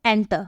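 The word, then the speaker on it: enter: ही आप बोलते हो एंटर कई लोग पता है एंटर बोलने की बजाय क्या बोलते हैं इंटर बोलते हैं लोग गलत इसका प्रोनंसिएशन करते हैं सही मीनिंग क्या होगा एंटर ई का प्रोनंसिएशन एज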